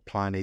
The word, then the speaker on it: Pliny: There's creators of Pliny or Pliny the Elder, depending on how you wish to pronounce it.